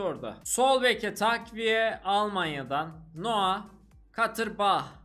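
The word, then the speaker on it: Noah Katterbach: sol Beke takviye Almanya'dan noua katır Bah diye okunuyor olması lazım özellikle soy ismi yüzde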